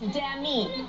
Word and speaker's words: Demi: And you're saying it wrong! Oh, Demi! It's Demi.